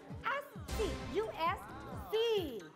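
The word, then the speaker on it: usie: group version ng selfie Ito po ay ang Asi pronounced as as us C oh at ganito ang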